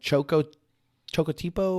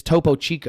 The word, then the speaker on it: Topo Chico: And then there's another one, Chocotipo, or I don't know that one.